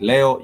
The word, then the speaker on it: leo: I said Leo, you do say Leo as spelled like you'd have it spelled as Leo.